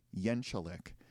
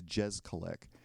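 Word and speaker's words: Jeczalik: So his first name is JJ, and when asked, he pronounces his last name Yenchalik. However, I've seen plenty of interviews where the interviewer pronounces it as it's spelled or how it looks, which is Jezkalik.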